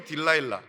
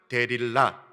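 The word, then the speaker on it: Delilah: 영어로는 그게 딜라일라. 히브리어를 그대로 우리 음력으로 정확하게 발음하면 데릴라. 근데 한국 성경에는 그걸 들릴라라고 기록한 거예요. 다 같은 이방 여인입니다.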